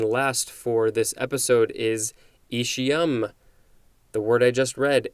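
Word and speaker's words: aecium: next word and last for this episode is ishiyam the word i just read a-e-c-i-u-m this is a noun from 1905.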